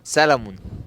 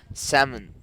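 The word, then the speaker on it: salmon: بت تنطقها غلط فكر ها سلمون صح ايه سمن سمن سمن سمن مع ان في ال بس النقط بتاعها بيبقى ال سايلنت بلا اي سبب بلا اي هدف هي كلمه كده سامن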